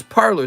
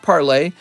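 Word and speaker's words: Parler: the train parlor yes parlor thank you it's pronounced parlay yeah so parlor was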